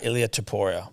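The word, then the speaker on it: Ilya Topuria: I'd have the UFC 298 Volkanovski versus, how do you pronounce his name, Tom? Ilya Taporia.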